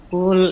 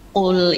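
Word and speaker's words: قل: Kul in. Bukan kul, afwan, tebalin sedikit. Jangan terlalu ke huruf kaf. Kalau bacanya kul itu huruf kaf. Kul. Nah. Qul innal mautal ladzi tafirruna minhu fa innahu.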